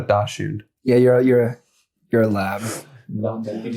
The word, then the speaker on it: Dachshund: But I'm pretty sure the German pronunciation is Dachshund. So it should be pronounced Dachshund. Yeah, it's Dachshund. It's Dachshund. No, I don't know if I'm pronouncing it right, though I do know if it is German, and I'm pretty sure it is, that is how you pronounce it.